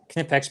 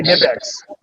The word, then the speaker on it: Knipex: I just say Knipex. It's Knipex. Silent K. Sorry, K. hang on. K. Yeah, it's K. Knipex.